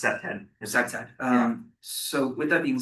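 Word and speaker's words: CPTED: It's pronounced CEPTED.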